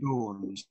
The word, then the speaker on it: Dawns: Pathways and Dance, right? Pathways and Dawns. Yeah. Dawns, pronounced correctly, yeah.